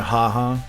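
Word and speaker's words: ห้า: By the way, haha, that mall right there has 5 underneath it. 5 is pronounced ha.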